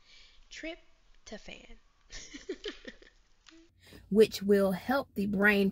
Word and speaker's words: tryptophan: utilize and create more you think it's called trif trifotin at wrong the actual pronunciation of the word is tryptophan trip to fan which will help the